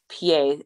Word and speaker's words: Peay: competitor and my instagram name is underscore pa and that's spelled n-a-t-a-s-h-a underscore and then my last name